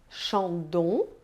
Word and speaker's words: Chandon: sabe então né II outras letrinhas que a gente encontra juntinhos com muita frequência é o e o n como pronunciadas na verdade é super simples elas tensão de um como encham de um decatilum e Louis Vuitton Repita comigo Chandon Decathlon